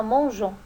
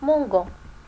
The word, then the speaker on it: mangeant: et fruits faites bien attention à mangeant on a ajouté le e pour ne pas prononcer mon gant là nous avons une